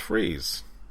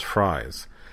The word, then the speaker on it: Fries: r i s and Gordon was saying it's it's freeze and then Bullock was saying is pronounce fries and they got like someone else to authenticate that and it was indeed fries and Bullock had like